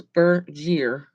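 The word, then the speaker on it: Bergère: right here right there it says bur jeer right there by my finger hi carrie so is spelled b-e-r-g-e-r-e and it is a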